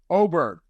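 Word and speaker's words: Åberg: he told Jason soble how to pronounce his name for real it's oberd all right Ludwig oberd all right so that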